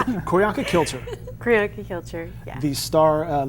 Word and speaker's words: Kilcher: I almost said kill her. It's like, how do you pronounce it? Koryanka Kilcher.